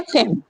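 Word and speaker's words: fame: Next है फेम। फेम में भी क्या है? ई को साइलेंट किया गया है।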